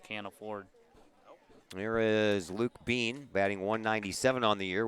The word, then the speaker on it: Beane: afford here is Luke Beane batting 197 on the year with four runs batted in smells his last name beat I eh n pronounced bean oh yeah yeah why